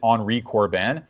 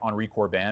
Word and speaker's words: Henri Corbin: I think you pronounce it Henri Corbin, Henricorbin.